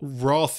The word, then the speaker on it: wrath: Roth is very biblical Roth is the British pronunciation yeah well then I'm